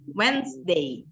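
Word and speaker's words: Wednesday: kalau table kan Terus kalau ini whensday jadi ininya nggak dibaca tengahnya kok nggak dibaca ya tengahnya bagian tengahnya dia itu nggak dibaca jadi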